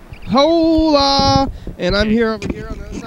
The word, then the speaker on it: Hola: The H is silent, Carl. Come on. Hola. Hola. Hola.